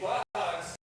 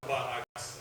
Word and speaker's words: quahog: And it turns out that it's quahog if you're on one half of Rhode Island, and quahog if you're on the other half.